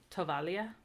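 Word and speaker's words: tovaglia: GLI is pronounced similar to like, it's like one sound, and it's pronounced similarly to the LLI in William. So like tovalia.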